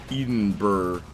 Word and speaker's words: Edinburgh: Edinburgh is how it's pronounced, by the way.